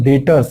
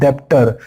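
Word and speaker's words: debtors: याद कर लो, डेटर्स, इट इज नॉट डेप्टर, इट इज डेटर, यहाँ बी साइलेंट होता है, और ये है बिल रिसीवेबल।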